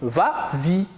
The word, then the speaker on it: vas-y: Mais comme il est suivi d'un pronom, on ajoute le S pour faciliter la prononciation. Et on dit vas-y.